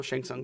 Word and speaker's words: Shang Tsung: together, forcing the tournament Shang Tsung, right? Shang Tsung. Oh, Shang Tsung, thank you. Don't pronounce the T.